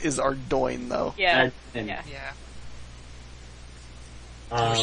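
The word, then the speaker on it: Ardougne: Ardugny. Please no. Everything is better than Ardugny. It's the correct pronunciation is Ardoin, though.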